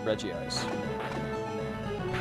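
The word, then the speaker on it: Regice: As far as Pokemon go, um, well, Reggie Ice doesn't, it's never mellow, but as far as, uh, everyone pronounces it Reggie Ice.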